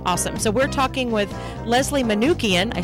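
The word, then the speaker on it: Leslie Manookian: of course awesome awesome so we're talking with Leslie manukian I said it right this time Leslie manukian um who is uh we're talking about vaccines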